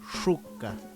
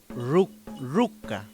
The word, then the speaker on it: shuka: La sh en otros territorios normalmente se pronuncia como r. Claro ejemplo de ello es cuando pronunciamos la palabra shuka, shuka. Shuka es la pronunciación en Chesungún. En otros territorios se pronuncia ruka, ruka.